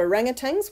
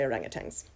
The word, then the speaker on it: orangutan: so you've got your orangutan who are hominids but they're not in the same subfamily with us ok orang utan is the correct pronunciation but we all say orangutangs ok if we look